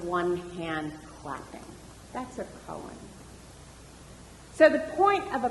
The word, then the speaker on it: koan: this word, are a little bit like a koan, K-O-A-N, a koan. And a koan is those riddles like, what's the sound of one hand clapping? That's a koan.